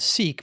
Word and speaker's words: Sikh: that your father you I pronounce it seek but I'm mispronouncing I'm sure I think you're saying pronouncing a little bit different your mother was Punjab